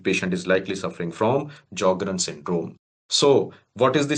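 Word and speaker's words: Sjögren: patient is join syndrome S is silent in these patients so we call it as jogrren syndrome and dry eyes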